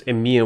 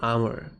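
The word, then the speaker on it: Emhyr: I think he's pronounced Emir. Yeah, the game clearly pronounces it as Emir. Why would you call him Amr?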